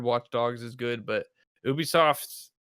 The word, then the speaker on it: Ubisoft: Gonna be Ubisoft, or how do you even pronounce it? Ubisoft. What do you guys say? Boobisoft. Okay. Perfect. Ubisoft.